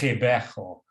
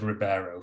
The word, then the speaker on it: Ribeiro: maiden surname Rebecca Ribeiro, which I understand actually should be pronounced Ribeiro, but I'll pronounce it Ribeiro for purposes of this talk.